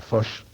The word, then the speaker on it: Foix: ¿Foix o Foix? Yo no... ¿La pronunciación correcta? Sí. Foix. Foix. Sí. Era... Esto se llama ultracorrección, sí, ¿no, señor filólogo? Sí. Y mala conciencia de no saber bien el catalán.